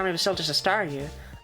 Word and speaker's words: Staryu: But back when I was a kid and Star Me was still just a Staryu, I could never pronounce its name right. It always ended up sounding like saw you.